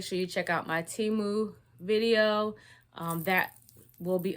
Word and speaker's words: Temu: haul the first one I said the name wrong the whole time I kept saying to me it's just two huh I thought you called me to me just sounds better but we're gonna say Teemu okay because that's who